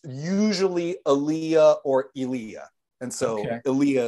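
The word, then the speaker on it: Elia: Number one, I was today years old when I learned how to pronounce Kazan's first name correctly. Give it to me again. Aaliyah.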